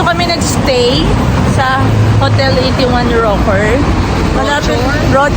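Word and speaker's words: Rochor: India Actually Dito kami nagstay sa hotel 81 rocker R pala daw ang pronounciation dapat lang siya ng MRT and then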